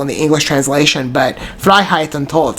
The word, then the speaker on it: Freiheit: FREIHEIT, and it's pronounced FREIHEIT und Tod, which translates to Freedom and Death.